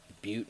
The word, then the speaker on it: Butte: butt lick and there's butte montana that's spelled like it looks like it says butt but it's not and we got a